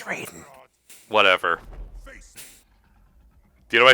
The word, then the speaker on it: Raiden: Black Adam skin it's Raiden whatever do you know I say to that John no it would be it would be Ryden like Raichu because Ry means Thunder that it's pronounced R